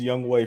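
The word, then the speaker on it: Younghoe: uh super accurate kicker how about we never pronounce his name right it's young right it is it is Young way for sure he's a young hoe I knew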